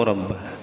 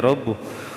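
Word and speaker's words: رَبُّهُ: Wa kana Musa alaihi salam mata kalamahu rabbah, mata kalamahu rabbuh, awas bacanya rabbuh.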